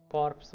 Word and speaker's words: Corps: कॉर्प्स ऑफ 30। कोर बोल रही है, कॉर्प्स बोल रही है। यहाँ कॉर्प्स लिखा है, वहाँ पे कोर बोल रही है इसको। मे बी पी साइलेंट रहता होगा।